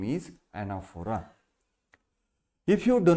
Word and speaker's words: anaphora: do not yes foreign a n a p h o r a the pronunciation of this word is anaphora the anaphora navachihi figure